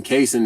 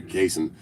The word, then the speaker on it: Kaysen: And then Kaysen is 2 syllables, but my brother's name's Jason, so we put K and J together, Kaysen.